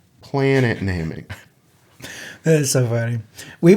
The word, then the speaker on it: Namek: I do want to point out Randy said Namek and it's pronounced planet namic that is so funny we we had we've